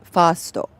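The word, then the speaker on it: ファースト: And in Japanese, first is pronounced fasto.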